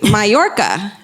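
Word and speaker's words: Mallorca: an island called and I wrote this phonetically my Orca so that's the one you spell phonetically so I guess it's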